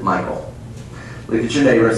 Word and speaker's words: Michal: I don't care if you call her name Michal. I don't care if you say it's Mitchell. The bottom line is, this is his wife, and I'm going to pronounce it Michael.